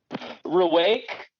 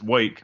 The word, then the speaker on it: Wake: that happened what B was it rake like I don't know if I pronounced W is it R yes wake wake yeah wake's awesome